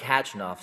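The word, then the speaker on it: Khachanov: you know I like hatching off silent silent k um he's a guy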